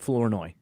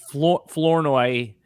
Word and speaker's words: Flournoy: So so Sinnott, Lob, not Lobby, yeah, Flournoy.